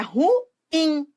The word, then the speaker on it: ruim: a uma identificação equivocada as pessoas que falam ruim elas falam assim porque elas acham que a sílaba tônica no ru né mas é ruim ruim não ruim nada